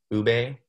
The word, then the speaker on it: ube: And then you have a taro or ube, which is how you say it in Filipino, or Tagalog.